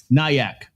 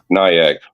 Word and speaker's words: Nyack: Nyak. Nyak.